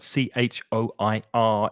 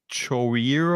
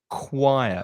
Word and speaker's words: choir: pronunciation of that word c-h-o-i-r it's very tricky it looks like it's chorier or something but the pronunciation is choir it's the sound choir